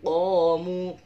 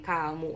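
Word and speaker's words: قَامُوا: Wa idza azlama alaihim qamu. Aku dan kamu. Ini cluenya itu dengan kata kamu. Tapi jangan bacanya wa idza azlama alaihim kamu. Nanti dimarahin oleh Pak Ustadz ya. Ini pakainya qaf. Qamu ya.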